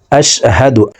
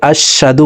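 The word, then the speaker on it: أشهد: জবর হা দাল পেশদু আশহাদু প্রিয় দর্শক আমরা অনেকে এই শব্দটিকে এভাবে পড়ে থাকি আশশাদু পড়ে থাকি এখানে আশশাদু হবে না হা হরফের উচ্চারণ হলকের শুরু থেকে হবে।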